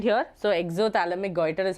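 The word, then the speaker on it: exophthalmic goiter: p silent here so exoic goer is how we pronounce okay EXO P silent you do not pronounce the P there okay got it is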